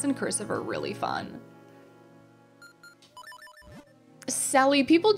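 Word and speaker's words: Celly: Sally, people call me, but they spell it C-E-L-L-Y or Cell or Cella.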